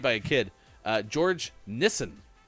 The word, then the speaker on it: Nissen: a kid uh george nissen sounds like the uh way that nissan is pronounced in many parts of the world nissan listen uh 816